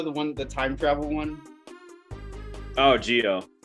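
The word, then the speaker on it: Zi-O: Oh, Geo. It's spelled Right. Zio, but it's pronounced Geo because Japanese pronunciation and spelling is weird.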